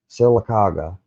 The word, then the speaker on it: Sylacauga: Here, how the fuck do we even pronounce it? Sylacauga.